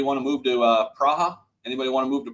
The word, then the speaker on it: Praha: plus years anybody want to move to uh praha anybody want to move to Prague with me